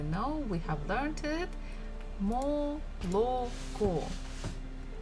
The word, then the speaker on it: молоко: we have learned it, молоко. This is how we write it, but the stress falls at the last syllable, so the first two O's we must read or say as A.